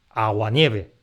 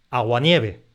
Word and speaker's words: aguanieve: sola palabra secuencias como aguanieve, un ejemplo que ya nos había salido. Esta palabra la pronunciamos aguanieve y no agua-nieve. Aguanieve frente a agua-nieve.